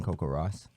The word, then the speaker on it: CoCoRaHS: cool and so how exactly do you join Coco Ross we have a website that is ww CoCoRaHS